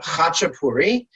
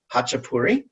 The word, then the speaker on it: khachapuri: the market um and the dish is called hachapuri i would probably spell it h-a-c-h-e-p-u-r-i hotchapuri and the hachipuria just put an a at